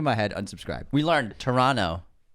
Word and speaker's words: Toronto: We learned Toronto. You don't pronounce the middle T.